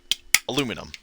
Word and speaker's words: aluminum: Aluminium is the scientific term, but it's actually pronounced aluminum.